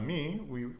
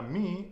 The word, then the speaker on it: mí: There's also one word that we said, para mí, which we were talking about in 2 of the other lessons. That's spelled M-I, but pronounced me, okay?